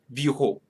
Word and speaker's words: bureaux: Actually, I'm not pronouncing anything at the end. Ce sont 3 bureaux.